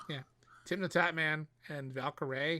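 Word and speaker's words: Valkyrae: tim the tatman and valkerae is how he pronounced her name because i remember him announcing it at the during the nominee announcement uh on youtube yeah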